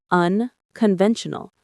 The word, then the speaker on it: unconventional: Unconventional stress on the third syllable.